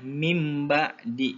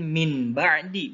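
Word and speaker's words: مِن بَعْدِ: bacanya gimana anak-anak nah ini bacanya mim ba'di bukan min ba'di bukan tapi mdi nah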